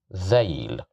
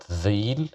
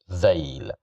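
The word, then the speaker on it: ذيل: So we have fatha at the top of the letter dhal, so we will pronounce it as dhail. It's not dhil, it's not dhuil, it's dhail, dhail, dhail, which means a tail.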